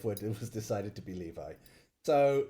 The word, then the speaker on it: Levi: initiated a conversation about how you pronounce Levi and I think most people pronounce it Levi well that's the correct way yes right so chazmo apparently calls it leie or Levy Levy I think maybe